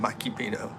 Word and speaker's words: Mikipino: I know it's Mikipino on here because I got Mike to rhyme with Filipino by saying Mikipino.